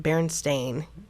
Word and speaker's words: Berenstain: life was a lie well it was always pronounced Berenstain so I guess that makes sense but yeah